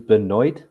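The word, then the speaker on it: Benoit: Dean I didn't want I was hoping it it wouldn't be a Beno Benjamin pronunciation it was Beno you remember Beno Benjamin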